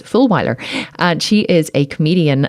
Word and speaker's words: Fulwiler: Her name is Jen Fulwiler, and yes, it is spelt as you would think it is, Fulwiler.